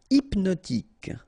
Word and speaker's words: hypnotique: Hypnotique. Remember, at the end, Q-E, K, tic. So, H is not pronounced.